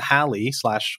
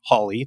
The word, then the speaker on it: Halley: Either way, there was a miscalculation, and Edmund Halley / Holly, depending on your pronunciation, took that as something that he then